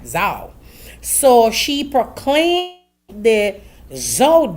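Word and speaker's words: Zhao: is Zo Zo Z H A O I hope I pronounce it right Zho.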